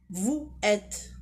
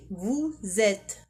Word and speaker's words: vous êtes: Et la 4e, on dit pas vous êtes. Non, on dit vous êtes. Pourquoi ? Parce qu'il y a une liaison.